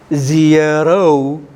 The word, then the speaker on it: zero: Zero. Not O ending, not O, but O. And the first one is not E, ear, here, ear, zero. Don't worry, need not be immediately, but understand, ZRO should be pronounced as zero.